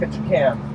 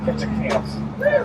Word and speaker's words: Ketchikan: That's why it's pronounced Ketchikan, not Ketchikans.